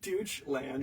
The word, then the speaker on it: Deutschland: That is, he pronounces it the Deutschland. Deutschland.